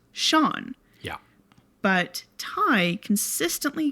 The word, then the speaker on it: Sean: And notice how I said Sion Brian McCarthy was her husband. So in Ireland, the name Sean is pronounced Sean.